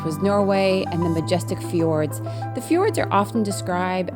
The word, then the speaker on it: fjord: Actually, and I think fjord is actually fjord. I think the Norwegians actually pronounce the D a little stronger.